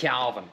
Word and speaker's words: Cavan: I can never know how to pronounce it. Cavan. It's Cavan.